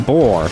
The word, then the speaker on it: Bor: So during that conflict, the father of Odin, Bor, Get it? Rhymes with defeats Thor.